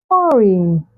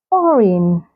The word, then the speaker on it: foreign: So you say align, rain, rain, foreign, foreign, champagne, champagne, not champagne, champagne. The silent letter G can also be found in words that have the letter G come before the letter H.